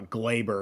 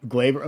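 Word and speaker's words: Gleyber: same subject as uh Glabber because apparently I've been saying it wrong the entire season. Thanks for telling me everyone. But Glaver like the one thing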